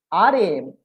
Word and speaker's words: Rama: RM, Ram, and then last A is pronounced like Shwa.